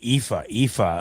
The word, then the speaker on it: Aoife: No, this is actually Aoife, who helped me pronounce the name the other day, which I'm glad because I'm terrible with these names sometimes.